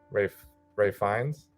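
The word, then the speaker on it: Ralph Fiennes: I mean, the performances are great across the board, specifically Ray Fiennes. Yep. I think is how he pronounces his name.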